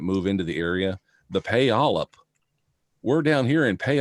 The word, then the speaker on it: Puyallup: ever come up here it's Pui al lu p and nobody knows how to pronounce it especially when you see